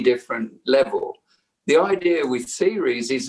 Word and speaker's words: Ceres: The idea with series is not, to bring up the traumas from the timeline.